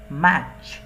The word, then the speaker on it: match: এ টি ম্যাট হয়, কিন্তু এখানে এই যে টি সি এইচ এটা হচ্ছে ম্যাচ, এই টিটা কিন্তু উচ্চ থাকবে, অর্থাৎ এটা উচ্চারণ হবে না, ম্যাচ।